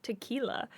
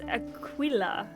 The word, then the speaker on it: Aquila: I've always pronounced it like tequila. No, it's Aquila. Aquila. I would have thought it was Aquila, right? Because tequila, Aquila, tequila.